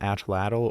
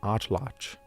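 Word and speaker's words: atlatl: And a lot of people don't know this, but it's not an atladdal or atal atal. It's a nwatch word and it's pronounced atlotch.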